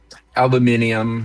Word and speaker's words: aluminium: I do love aluminum though. It's really helpful. Aluminium.